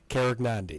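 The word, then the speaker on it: Karegnondi: the name and that's how I had them pronouncing at the past few years Cara Gandhi now Cara Gandhi that's correct okay just making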